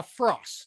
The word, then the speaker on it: Fraass: police captain FR is this pronounced phas or fras uh Frost just imagine saying Frost without the te ah okay I should